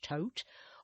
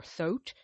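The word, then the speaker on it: Thoth: So for example in the tote system otherwise known as th h o t it's pronounced tote or thot depending on the system the lineage.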